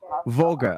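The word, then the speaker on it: Vogel: o g e l voger okay as V but it's um pronounced with f fog oh fga okay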